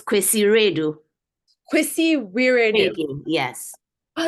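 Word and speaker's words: Kwasi Wiredu: It's Kwesi Redu. Kwesi Wiradoo. Yes. Oh, it's Kwesi. Okay. I looked it up, but it's Kwesi Redu. What was that? Kwesi Redu.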